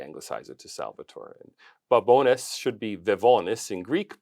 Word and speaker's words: Babones: Here in studio, I have got Salvatore Babones. Did I pronounce it right?